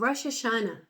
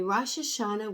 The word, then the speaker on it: Rosh Hashanah: My family is preparing for the Jewish New Year of Rosh Hashanah.